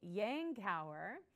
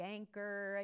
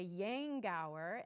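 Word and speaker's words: Yankauer: other little piece up here uh is a Yang Tower and that is how it is pronounced you'll hear people call it a yanker A Yank hour a younger but it is a Yang Gower and it is a a little apparatus that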